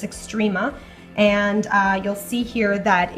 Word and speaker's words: Xtrema: I believe I'm pronouncing that correctly. It's Xtrema.